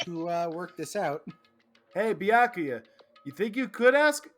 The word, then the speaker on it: Byakuya: That sounds like I me heard the trying to pronounce story. his name back in the beginning. Byakuya.